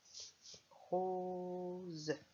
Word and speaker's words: rose: Rose. 2 syllabes. Je l'écris avec valise.